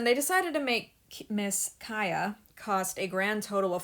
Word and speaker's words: Kia: Today, it's time for Miss Kaya HART, because, they decided to throw away any potential at her name being a pun of key to my heart by pronouncing it like Kaya.